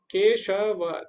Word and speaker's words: केशवः: रही है अंत में, तो इसका जो उच्चारण होगा केशवः, हा ना, आ आ रहा है तो हा होगा।